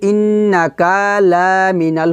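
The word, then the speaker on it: إِنَّكَ لَمِنَ: এখানে কিন্তু ইন্নাকা লামিনাল হবে না, কারণ এখানে কাফ লা এগুলো কিন্তু টান হবে না। কাফ জবর কা, লাম জবর লা, এভাবে টেনে পড়া যাবে না, কারণ এগুলো হচ্ছে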